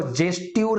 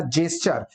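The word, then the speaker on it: gesture: जबकि जेस्चर, देखो जेस्ट्यूर नहीं है, प्रोनाउंसिएशन ध्यान रखना, जेस्चर, जेस्चर इज the movement of our legs, hand, neck, shoulder, arms etcetera.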